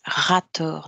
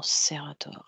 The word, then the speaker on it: Rator: C'est Rator, non Serator, Rator.